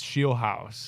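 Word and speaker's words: Scheelhaase: also we've mentioned the Rams pass coordinator Nate Shield House. Am I pronouncing that right, Nick? Is it Shield House? It's It is Shield House.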